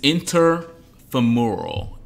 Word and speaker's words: interfemoral: Our word of the day this week is interfemoral. Interfemoral. That's like, how many syllables? Interfemoral. That's five syllables.